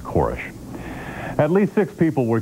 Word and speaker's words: Koresh: an ATF agent in a news conference who pronounced his name korish but he says that his last name is pronounced korish at least six people were killed in the